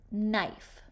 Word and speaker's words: knife: the M sound now we're practicing a silent k before the letter N so we know that knife is going to have k n making the sound what's the second sound